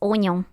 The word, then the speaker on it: oignon: It's oignon.